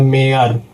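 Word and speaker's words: mayor: लेकिन इसको पढ़ते हैं मेयर। वाई को साइलेंट कर देते हैं।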